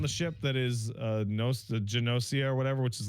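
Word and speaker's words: Gnosia: It's spelled G N O S I A, which I would pronounce as Nosia because GN makes a silent G in English. I have been informed that it's not. It's Janosia. Janosia.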